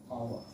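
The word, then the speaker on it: hour: जी means ओ के बाद, जैसे आवर, या देखिए साइलेंट है, आवर, ठीक है, आवर।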